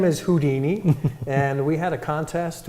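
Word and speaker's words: Whodini: And we thought this was very unique because it's spelled W-H-O-D-I-N-I, kind of like the who of an owl plus the Houdini.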